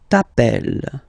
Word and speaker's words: appelles: Okay, remember, final s not pronounced. Tu t'appelles.